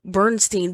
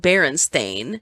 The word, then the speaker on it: Berenstain: was an adult why would she call them bernstein bears if they were called berenstain like i can see as a kid maybe